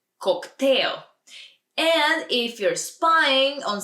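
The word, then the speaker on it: коктейл: we order a cocktail cocktail it's almost the same but just a little different pronunciation in Bulgarian cocktail and if you're spying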